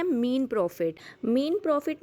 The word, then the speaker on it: mesne: कई लोग इसे मैसने प्रॉफिट भी कहते हैं, बट इसका सही प्रोनाउंसिएशन होता है मीन प्रॉफिट।